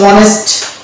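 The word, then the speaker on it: honest: ম্যান এই যে অনেস্ট এখানেও কিন্তু এইচ এর উচ্চারণ আমরা দেখতে পাচ্ছি না উচ্চারণ হচ্ছে ও এর মানে এই যে ওয়া থেকে শুরু হচ্ছে তাহলে ওয়া যেহেতু হচ্ছে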